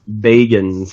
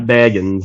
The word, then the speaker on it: Bagans: I want to point out that Gareth actually pronounced Zach's name correct. Zach? It is Bagans, not Bagans, Bagans.